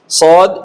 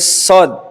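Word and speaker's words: ص: সদ সদ এই হরফটাতে মোটা দাগে কয়েকটা বিষয় আছে উচ্চারণটা মোটা হয় বাতাস চালু থাকে আওয়াজ চালু থাকে শক্ত হয় সদ স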